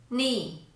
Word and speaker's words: knee: The letter K will always be silent in English when it comes before the letter N. Here are some examples. No, knock, knife, night, knowledge, knee.